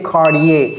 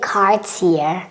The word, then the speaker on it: Cartier: wearing cardier they may say cardier cardier cardier but the right pronunciation is c c just like in French but Americans cannot say so you may hear some Americans who know about the French pronunciation say CER otherwise you will just hear cardier cardier cardier okay I was going to say Cartier okay yeah CTI Cartier cuz this is e in in French yeah yeah all right